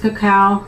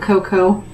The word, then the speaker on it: cacao: It is pronounced cacao, not cocoa.